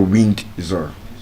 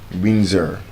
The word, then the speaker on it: Windsor: And then this place in the UK, Windsor, W I N D S O R is not winder. Windsor. Windsor.